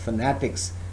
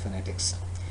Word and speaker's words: phonetics: pronunciation because I said if you call this word as fanatics so entire meaning are changed so that's why I requested you to call or to pronounce this word as phonetics and at the same